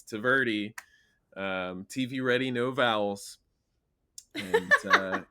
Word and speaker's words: Tvrdy: It means tough or hard, like a rock in Czech, and it's no vowels except for that Y. So that's like my daily Yeah. experience when I'm like introducing myself is like clarifying it's Tvrdy, TV ready, no vowels, and yeah, that's right.